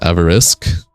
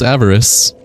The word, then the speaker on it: avarice: It's pronounced Avarisk. No. It's just pronounced avarice.